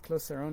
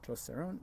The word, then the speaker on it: Clos Saron: a French word so it sort of leans towards the French pronunciation so closer own makes more sense so we call it closer own most people I mean